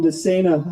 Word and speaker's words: DeSena: Moving things along here, I asked Representative Jim DeSena how to pronounce his name. He said, just think insane for running for public office. That's how you remember it.